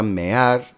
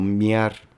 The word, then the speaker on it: mear: La palabra mear, que tiene 2 sílabas, muchas veces se pronuncia como miar.